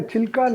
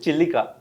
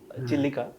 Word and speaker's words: Chilika: You have a Chilka Lake? Yes. What is a Chilka Lake? Chilka Lake is the Full of large. Chilkas or what? Huh? What is a Chilka Lake? We pronounce it Chilika. Chilika.